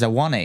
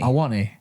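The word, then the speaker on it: Awoniyi: It is Awani. Awani.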